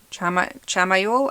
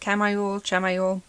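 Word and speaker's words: Chamuel: You have the angel Asmodeal, but you have the archangel Chamael, I think is how you say it. Chamael.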